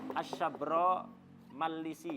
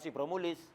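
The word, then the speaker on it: Shabramallisi: namanya apa Ali asyabro mallisi bacanya begitu asyabro Malisi asabroallisi bukan sibromulis banyak orang sini niru namanya sibro Mulis gak baca yang anu kata Syekh Muhammad Khatib bacanya lebih tepat adalah asyabro misi ala wazni yaro arisi wazannya sama dengan ya adro arisi asyabro mallisi asyabro Ali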